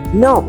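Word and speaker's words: know: Here, the letter K is silent. We pronounce it no.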